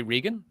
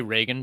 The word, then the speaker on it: Reagan: Well, in Ireland, we say Regan. Ah, well, there you go. It's Ronald Reagan. Well, the Americans say Reagan, but he was an Irishman, so I'm calling him Regan.